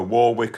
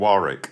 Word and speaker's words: Warwick: Yeah, it's like football and soccer, Warwick and Warick.